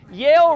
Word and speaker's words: Yale: to Yale trust me Yale rhymes with jail and they probably wouldn't